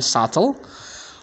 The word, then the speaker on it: subtle: The last one, subtle.